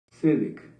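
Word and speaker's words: צדק: astronomía y bueno Júpiter Júpiter en hebreo se pronuncia o se se nombra sedec p de tío la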